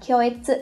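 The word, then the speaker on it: 恐悦: Hoặc nó có thể đứng sau, ví dụ trong cái trường hợp là kyoetsu shigoku, từ này các bạn phải đọc là kyoetsu nhé.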